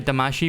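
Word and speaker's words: Damacy: eventually inflate every Katamari but I say damashi because that's how that's what that's how it's pronounced there is no C signed in Japanese I can't even give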